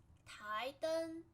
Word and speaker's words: 台灯: 台灯. 台 means a platform. 灯 means lamp. We call it 台灯. Second tone, 台. 台. 灯 flat. 灯.